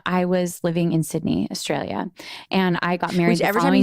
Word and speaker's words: Australia: because I laugh now because Americans say Australia Australia Australia and I'm like no they will they say Australia Australia like it's all Australia everything is shortened to